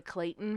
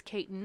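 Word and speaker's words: Cayton: been improperly named the Clayton family in a lot of Oh. sources. So I just want to point that out. It's Katyn. There's no L.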